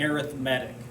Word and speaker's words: arithmetic: lesson 8.1 arithmetic sequences and that is pronounced correctly as an adjective we would say arithmetic so take a look